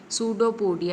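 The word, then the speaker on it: pseudopodia: सूडोपोडिया। ये पी जो है वो साइलेंट है और सिंगुलर को बोलते हैं सूडोपोडियम।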